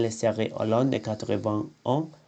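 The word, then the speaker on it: huit: Le T est muet quand il précède un mot commençant par une consonne ou un H aspiré. 8 semaines.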